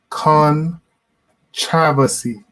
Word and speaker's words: Kontravasy: It's pronounced Kontravasy.